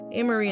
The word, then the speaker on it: Ameriie: But the pronunciation of her name hasn't changed, just the spelling. The following year in June, after dating for 7 years, Ameriie and Nicholson got married